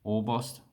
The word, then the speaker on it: Orbost: bean beer bossed so we don't really have any shorten orbost we just say all words in it or bost so i hope this